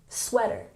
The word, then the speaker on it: sweater: And in sweater, make sure you're emphasizing the first syllable, sweater, sweater.